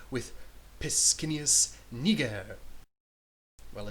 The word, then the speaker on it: Niger: I think it's Niger, sir. Like the country, with a soft G, sir. Bigger sticker, sir. What's so wrong with Pescennius Niger?